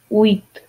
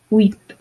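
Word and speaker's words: huit: number seven sept sept number eight wheat wheat the h is silent wheat number nine nuff like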